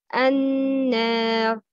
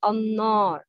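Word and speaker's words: النار: The right pronouncing is an-nar. Noon is light or heavy? Yes, it's light. It's na, not na. So it's an-nar. The wrong pronouncing is no, not annor. You shouldn't add kasra to alif fat. It wouldn't sound like letter ya.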